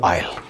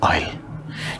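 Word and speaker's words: aisle: The passage, the गली, that is called आयल. Passage between rose of seats. यहां पर देखो सीट्स हैं, यहाँ पे सीट्स हैं, और this part is called a आई एस एल ई, we pronounce is आइल.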